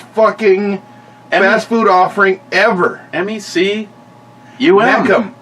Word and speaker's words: Mecum: MECUM. Mecum, not the McCum.